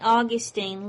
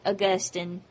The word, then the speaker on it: Augustine: Augustine lived from 354 to 430. His name is also sometimes pronounced St. Augustine. Either way is correct.